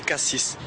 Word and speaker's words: Cassis: et on prononce carnou et cassis ou Cassi si ça ça dépend des gens comme il préfèrent comme on préfère appeler moi personnellement je dis